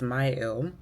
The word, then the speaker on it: Mielle: I've been saying the name wrong for a really long time, apparently. It's Mielle.